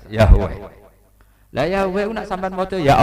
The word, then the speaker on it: Yahweh: Ya paham ya, Tuhan Yahudi tunggal niku Yahweh, napa? Ya, itu nak tengejaan Latin Y besar A H besar W E H besar Yahweh.